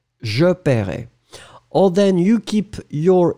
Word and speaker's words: paierai: So whether you go for the E, in that case, remember, E will be not pronounced. So, je paierai. Je paierai.